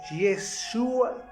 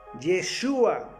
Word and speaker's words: Yeshua: Y hablo con Y, no con J, porque la J nunca ha existido en el hebreo.